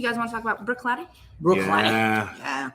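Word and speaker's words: Bruichladdich: and nutritious you guys want to talk about brook cloudy brook yeah pronounced like that brook lady but spelled wholly differently in my mind as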